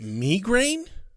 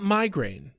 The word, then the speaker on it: migraine: Wesley pronounces it migraine, not migraine.